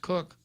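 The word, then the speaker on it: Coke: jurist known as lord cook c-o-k-e pronounced cook was the one who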